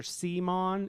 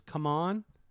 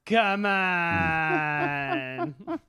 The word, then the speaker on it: CMON: It's no longer CMON, it's come on. Oh yeah, I heard that too. But I didn't realize it was pronounced come on.